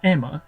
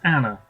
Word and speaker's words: Anna: wrong this whole time it's not Emma it's Anna an attorney with banshee